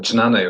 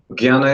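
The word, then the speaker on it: jñāna: Jnana, jnana you can say, but jnana is like, our school is Bengali, so we say jnana because they pronounce like this.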